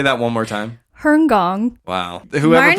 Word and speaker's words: Hong Kong: go around and say i lived in herngong that's the proper way to say it that's crazy i never even knew that say that one more time herngong wow whoever pronounces it